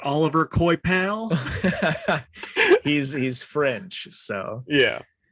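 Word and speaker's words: Olivier Coipel: say it before so i know it's like oliver coy pal he's he's french so yeah uh then james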